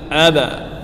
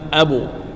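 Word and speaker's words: الأبتر: Abtar, bukan abu, bukan abe . Karena orang-orang membacanya dengan berbagai cara: ada yang mengatakan "abu", ada yang mengatakan "abar", "aba". Aba. Ab. Ya, bukan abo.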